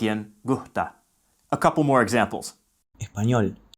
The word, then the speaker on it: gusta: When spoken in a sentence, gusta sounds more like gusta, and antes sounds more like ante.